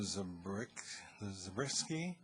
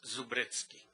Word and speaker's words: Zabriskie: Zabriskie. Well, I think we may have more than one card here. Both pronunciations are excellent. Acceptable? Okay. The second one is the native pronunciation, Zubritsky.